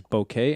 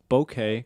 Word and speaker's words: bokeh: You want that nice bokeh, and it's bokeh because it's spelled with the EH, not bokeh. Stop saying that.